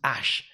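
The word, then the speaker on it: Æ: you find these things this a and this e here this is pronounced ash so he's linking that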